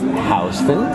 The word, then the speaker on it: Houston Street: Number 12, saying Houston Street. Yeah. Pronounced Houston. Yeah. If you say, where's Houston Street, we know that you're not from here, so if you want